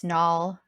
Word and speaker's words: Nall: That's Nall rhymes with wall.